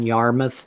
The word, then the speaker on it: Yarmuth: Congress critter whose name needs to be said as John Yarmuth not spelled like Yarmouth port it's why a RM